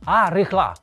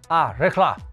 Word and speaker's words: Al Rihla: se lee algo así a rija esa l es muda la H es una j aspirada y hay una sílaba tónica en el la Así que leeríamos a